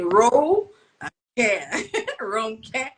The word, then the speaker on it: Ronke: well um it shows intention someone wants to pronounce your name the right way so I always say Ro WR care you have to give people those little like